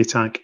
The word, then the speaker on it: Atack: Was it Timothy X Attack? Is that how you pronounce it? Timothy X Atack.